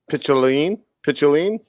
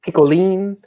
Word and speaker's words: picholine: Pichinoli? Pichinoline? Okay, this is how it's spelled. Tell me how you would pronounce it. Picholine. Picholine? Picoline.